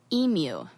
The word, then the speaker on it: emu: And apparently NPR decided to allow their journalists to pronounce it in the American way, which is how I say it, which is emu, like a cow, emu.